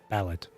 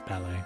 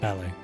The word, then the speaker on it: ballet: A ballet set to precise choreography or ballad. No, no, no. It's ballet, right? Yes, yes, yes. Ballet.